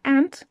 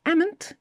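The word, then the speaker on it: amn't: The next one is pronounced either ant or amant. It's chiefly Scottish and Irish.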